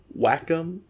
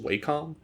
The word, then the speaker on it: Wacom: I'm using the Wacom. I think it's pronounced Wacom, but Wacom is more fun to say.